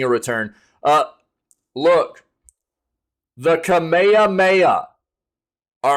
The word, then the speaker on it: Kamehameha: how to pronounce it they kept calling it like the kamama mama and the kamehame and stuff like that they had no flipping clue how to pronounce Kamehameha and it was hilarious